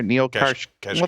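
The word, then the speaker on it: Neel Kashkari: The Fed governor, Neil Kashkari. Well, thank you. Don't ask me to spell it, but I know what he said.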